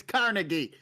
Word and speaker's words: Carnegie: It's Carnegie. Okay, motherfuckers. They tried. Stop. They tried having a different inflection on one of the syllables.